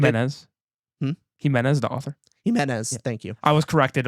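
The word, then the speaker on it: Jimenez: Himenez, thank you.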